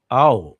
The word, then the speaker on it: Ao: Oh, it's pronounced as ow.